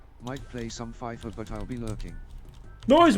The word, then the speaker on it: FIFA: what bash bash F no it's not fiver it's FIFA it's FIFA who the [ __